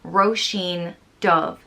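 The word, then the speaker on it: Róisín Dubh: so they disguised it as a woman's name roshin dove which means little black rose and so roshin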